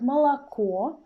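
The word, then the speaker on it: молоко: with words you see in the word malachor the stress is under o in the very end of the word and that's why the first or in this word is pronounced like ah but it's really short and the word aguryet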